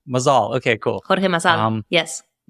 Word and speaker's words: Mazal: Mazal. Mazal, okay, cool. Jorge Mazal, yes. Okay, there's the right pronunciation.